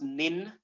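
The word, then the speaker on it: 忍: It's pronounced nin, Nin, nin, and Nin.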